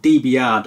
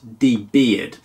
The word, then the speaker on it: DBR'd: Now, if you are wondering how that is pronounced DBYARD and not DBEARD.